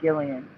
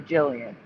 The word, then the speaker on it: Gillian: I used to pronounce it Gillian. Yeah, I know and I was that. corrected to Jillian.